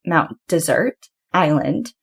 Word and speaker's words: Mount Desert Island: And if you ever hear locals talking about it, they actually pronounce it Mount Desert Island.